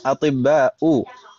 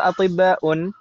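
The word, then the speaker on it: أطباءُ: Atibba'u di sini hum atibba'u. Ini yang kita bahas tadi ya kan Ibu ya? Atibba'u. Yang betul atibba'u atau atibba'un? Atibba'u karena ini termasuk ism mamdud dan wazannya atau polanya af'ila'u.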